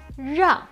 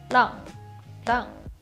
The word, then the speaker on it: 让: 教练让我 The R sound in Mandarin is actually quite unique, but it's not too difficult. If you can properly pronounce 知、吃、诗, the R is pronounced from the same tongue position, but it's a word sound, so we should be able to feel our throat vibrating for the consonant.